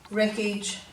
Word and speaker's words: wreckage: day 2 page, and all these words have a silent W with them, and we usually see a silent W before an R, as you'll see in all these words.